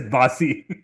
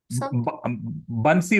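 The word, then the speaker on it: बंसी: meet somebody called buy don't mispronounce the word as Basi that will really really get you into trouble okay so wait is so Krishna G's name is Basi bansy Wala oh wala wala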